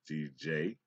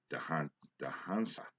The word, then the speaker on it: Djansa: That's pronounced Djansa. Djansa. J is usually pronounced silent.